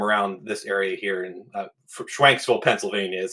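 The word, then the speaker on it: Schwenksville: stores um from around this area here in schwanksville Pennsylvania is how it's pronounced um so we purchased cards from local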